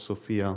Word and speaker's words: SOFIA: the program is called Sophia like the pronunciation is the same as the name of a famous actress and also the name